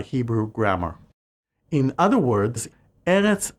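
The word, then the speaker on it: ארץ: In other words, Eretz effectively changes its pronunciation whenever the Hebrew definitive article is added, turning it into Haaretz.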